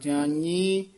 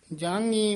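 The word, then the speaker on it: ਜਾਨੀ: याया उच्चारण करना फला जानी मानी पाठी सिंह जांगनी मांगनी कह हन ध्यान नाल उच्चारण करना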